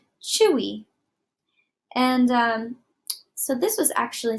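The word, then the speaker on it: Twi: is it looks like Thuy but it's actually pronounced Chui and so this was actually something that I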